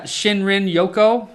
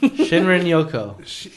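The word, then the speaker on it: shinrin-yoku: the japanese yeah like should i try to pronounce this or yeah shinrin yoko shinrin yoko yeah sh so shinrin yoko means bathing in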